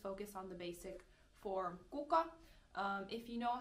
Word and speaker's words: kuka: Be careful with the singular K in this word.